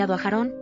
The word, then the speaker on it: אַהֲרֹן: En hébreu, sa forme originale est « aharon » (אַהֲרֹן), prononcée « ajarón », et est à l'origine de toutes les autres variantes.